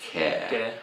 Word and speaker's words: 개: It's Keh. Okay. It's the Keh of Sogeh, like a Sogeh So, or a, to introduce someone. Yep. But it's pronounced Keh.